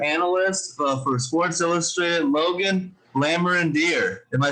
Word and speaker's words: Lamorandier: lions um insider analyst for sports illustrated logan lammer and dear am i saying that right nice work i